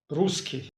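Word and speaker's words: русский: In Russian this is pronounced as Ruski.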